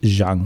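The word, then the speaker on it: Zhang: Oldfield prepared for me um please help me pronounce this z h n g Charlie Jang Charlie Jang Jang okay so he is the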